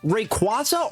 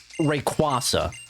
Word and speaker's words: Rayquaza: Because for a long time, I call it Rayquaza. It just sounds better, but I know officially it is pronounced Rayquaza. And that is the one hot take I have when it comes to Pokemon pronunciations, is that it should be called Rayquaza, not Rayquaza.